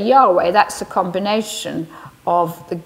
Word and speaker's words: Yahweh: am is my name usually it's pronounced yahweh in hebrew now the name of